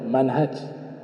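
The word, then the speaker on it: منهج: Adapun yang di footnote ini berjudul Al-Manhaju, ya, kalau cara baca huruf H-nya panjang itu dibaca minhaj. Kalau hurufnya pendek dibacanya manhaj. Kaidah dalam membaca kitab.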